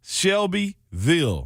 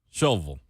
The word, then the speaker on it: Shelbyville: here my whole life it is Shelbyville no it's not shovel all right that's what